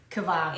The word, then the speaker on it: כבר: Kvar. It's a K, not a G.